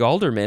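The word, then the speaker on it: ealdorman: almost done next is alderman you'd think Alderman is spelled with an a not in this case it's e-a-l-d-o-r-m-a-n alderman noun from before the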